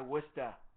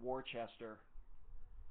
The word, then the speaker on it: Worcester: the car over by wer yeah so how many people call it Worchester when you write it out like all of them all right so what's